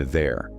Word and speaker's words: they're: There, and there. 3 words, exactly the same sound.